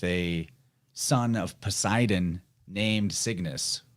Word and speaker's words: Cygnus: son of Poseidon named Cygnus or sometimes actually spelled or pronounced sickness because G and C sounds are interchangeable.